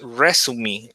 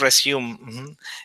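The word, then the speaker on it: résumé: but Yeah, the word resume, right? This is a right. French word. It's a French word, but the pronunciation is resume, Okay, and not resume.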